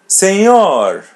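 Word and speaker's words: senhor: Seor repeat part of the part. Sing your singor. Seor letter N the light N and letter H is pronounced as Y.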